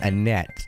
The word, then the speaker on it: Annette: name priya no sir my name is annette it's pronounced a net if you're going to say it correctly in english if you're going to